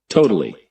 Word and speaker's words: totally: get here is u the second T is a flap T which means that um you don't actually You don't um you pronounce the T as a as if it were a kind of D sound.